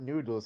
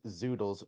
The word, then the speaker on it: zoodles: end 7s zoo no it's not noodles it's zoodles z-o-o-d-l-e-s you also also like